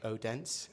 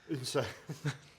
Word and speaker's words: Odense: Uh we English people pronounce it odense. Well, just when we're looking at the football scores, but it we've learned that it's unsa.